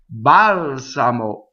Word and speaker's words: balsamo: So here's a word that has a stress on the antepenultimate syllable, right? So the penultimate syllable is the second to last. That's the usual place. Some words like subito, balsamo, they have two before the end where the accent is, okay?